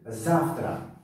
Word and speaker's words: завтра: Завтра, завтра. Ударение дар ҳарфи а аст ва ин завтра. А баландтар талаффуз шуда истодааст.